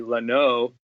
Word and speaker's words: Lanau: vowels when out but the proper French way it would be Leno and nobody I don't